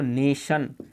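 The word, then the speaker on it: nation: ऐसे ही यहाँ पर देखो नेशन, नेशन यानी कि TIO, इन तीनों से मिलकर के 6 अंक वाला बना है।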